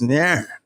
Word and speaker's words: Aaron: No, it's Aaron. It's no two syllables in that.